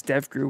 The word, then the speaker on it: DEVGRU: delta force and devgru i guess dev grew would be the way that's pronounced as well as navy